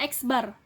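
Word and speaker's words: x̄: Berarti ini bacanya X bar.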